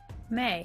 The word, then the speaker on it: Mai: May. Is May. May on the board. It is spelled Mai. Interestingly, it is May in the show.